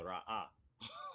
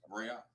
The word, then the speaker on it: ra'ah: So the aleph represents a glottal stop, and then the ha is vocalized, right? So you got the ra'ah. So that's how it should be pronounced.